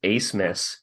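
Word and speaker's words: Abmas: Oral Roberts transfer Max Ace Miss yes that is how you pronounce that name uh it according to Connor earlier it's a German thing and the German letter didn't transfer over okay he's currently on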